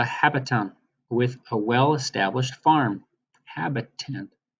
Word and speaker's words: habitant: with a wellestablished farm habitant habitant that sounds like the word habitat or inhabitant doesn't it habitant and I know